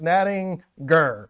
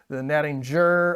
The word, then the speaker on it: Nattinger: First off, it's Nattinger. Hard G. Hard G in that one. Always pronounce the g-g-g-ger. Remember? So don't do the Nattinger.